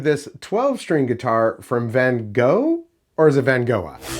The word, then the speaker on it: Vangoa: I say Van Goa. Uh there's people that are like, "Oh, yeah, no, it's Van Goa because that's how it's spelled."